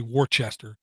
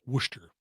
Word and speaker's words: Worcester: when i say worcester so i don't say warchester and sound like an idiot or like some kind of foreigner when all the locals pronounce it worcester which is one of these weird things man